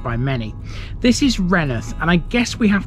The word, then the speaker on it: Rainworth: in a place which a lot of people would think is called rainworth however that is not how you pronounce it it's called renith